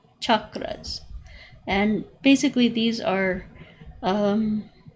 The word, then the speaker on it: chakras: people call call them chakras with an sh they're actually pronounced ch chakras and basically these are